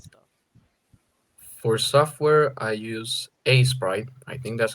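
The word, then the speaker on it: Aseprite: for software, I use A Sprite.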